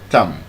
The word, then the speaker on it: thumb: It's your thumb. Thumb. The B is silent.